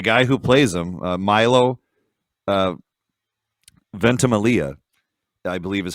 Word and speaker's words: Ventimiglia: And the guy who plays him, Milo Ventimiglia, I believe is how you say his name.